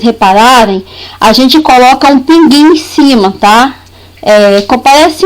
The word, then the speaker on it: pinguim: palavra portuguesa pinguim tá antigamente a gente tinha o tema para indicar que esse uh ele era pronunciado pinguim diferente de quando eu